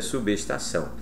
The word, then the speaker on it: substação: fonética questão de pronúncia a pronúncia correta é substação e eu estou mostrando a separação silábica para você para você conscientizar-se de que o b se desloca formando uma sílaba nova com o e s bem Interessante não é